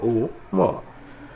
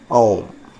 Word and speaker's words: ओम: ओ ओ म या अ ओ म ओ म या अ ओ म ओम तो आप ओम बोलिए आप ओम बोलिए आपकी मर्जी है दोनों ही ध्वनि करेक्ट है।